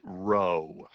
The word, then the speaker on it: rho: equals one so why do we call it row why why is this a row because it